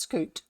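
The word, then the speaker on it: scute: S C U T E, I think it is. Yeah, that might be pronounced scoot.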